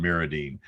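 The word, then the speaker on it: MirrOdine: at icast but i've always wondered if it was miradine or mirodine because i hear it both ways so i'm glad to get the definitive correct pronunciation now on miradine i've heard several inshore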